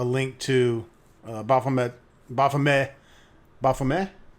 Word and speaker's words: Baphomead: to bomb that bothame Buffum a yeah T is silent folks we've got to hand it wrong for all our lives but yeah I'll put